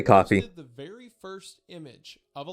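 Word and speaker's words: Ko-fi: that Kane posted to his coffee account or Kofi, however you pronounce it. I say coffee.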